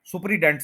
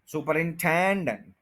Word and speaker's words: superintendent: अब ये कितने सिलेबल्स हैं, 5 सिलेबल्स हैं। सु, पर, इन और 10 के ऊपर स्ट्रेस है, यहां पे आप आके रुक सकते हैं, उससे पहले आप रुक नहीं सकते।